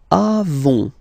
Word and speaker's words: avons: Then nous avons. Final S not pronounced.